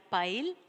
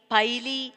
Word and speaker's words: pile: Like, ride, bike, pile, hide. Here, we can't read ridey, bikey, piley, hidey. Can we read in this way? No, because here the letter E is silent.